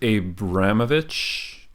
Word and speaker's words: Abramovich: I think it's Abramovich.